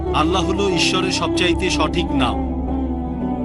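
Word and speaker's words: Allah: এ এল এ এইচ তারা বলে এলা আমরা বলি আল্লাহ স্কুলে থাকতে আমি শিখেছিলাম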